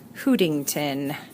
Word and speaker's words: Hootington: I'm going to call her Chef Hootington. Yeah. Hootington. I'm going to spell it just like it sounds. See? Get who, like the question who, instead of who, like H-O-O.